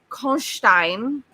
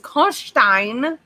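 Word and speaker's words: Karnstein: all i know is i practiced count konstein because that is how they pronounce this guy's name the entire time it's kosh stein it's really yeah you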